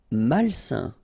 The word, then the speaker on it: malsain: Malsain. A-I-N together, it's a nasal and it's un.